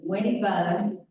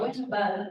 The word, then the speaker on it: Winnebago: We also had a situation where Winnie Bud, I guess that's how you say it, is, what was it? Winnebago's house. Winnebago, okay. Winnebago, wanted to become a town.